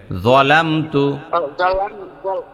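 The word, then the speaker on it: ظَلَمْتُ: আল্লাহুম্মা ইনিলাম আপনি উচ্চারণ যখন করবেন দাত থেকে বের করবেন একটু তাহলে ঠিক হয়ে যাবে জলামতু আল্লাহুম্মা ইনিলামু জলামতুলামু জলামতু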